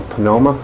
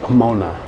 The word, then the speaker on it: Pomona: eight yes approximately and you grew up in panoma is that how you pronounce it it's pronounced Pomona I'm not even going to try I know